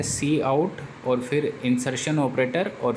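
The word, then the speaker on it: cout: भी बोलते हैं और इसको प्रोनाउंस किया जाता है सी आहट कि इसके अंदर एक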